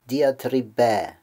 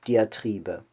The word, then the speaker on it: Diatribe: ein deutschen allerdings gesprungen wir sagen auf deutsch die antriebe der akzentum deutschen sitzt also auf dem auf der vorletzten selbe und außerdem ist auch dass hinten ein kurzes also vom griechischen die antriebe zum deutschen die antriebe